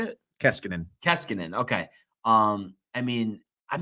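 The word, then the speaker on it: Koskinen: kassiknen is that how you say it keskinen keskinen okay um i mean i'm just not impressed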